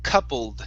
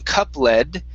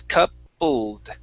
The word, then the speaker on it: coupled: so couple things here first up this oh you and in this particular word is pronounced with an uh okay now we have an ed ending in most ed endings the e is not going to be pronounced so instead of saying cup lead it's coupled coupled coupled good one more time